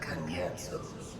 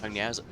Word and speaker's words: Cagnazzo: In order to guarantee success, however, I will require Cagnazzo's cooperation. Cagnazzo. That's how it's pronounced?